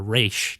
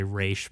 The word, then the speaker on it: Ra's: Ra's al Ghul, or Raish, depending on how you pronounce it. I usually say Raish, but I decided to say Ra's instead, so the mainstream people could get what I was talking about.